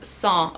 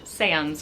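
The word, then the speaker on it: sans: might be going on the next word is song or as we say in English sands or songs in French this means without and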